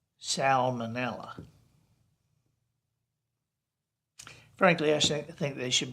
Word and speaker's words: salmonella: s-a-l-m-o-n is pronounced salmon but s-a-l-m-o-n -e-n-l-l-a is pronounced salmonella so it's salmon but it's salmonella frankly I think they should both be salmon